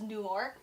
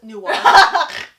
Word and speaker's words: Newark: Yeah, but what I'm saying is, our stop was Newark.